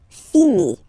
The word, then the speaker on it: finit: Il, elle finit. So it, final T not pronounced. Il, elle finit. So, je finis, tu finis, il finit.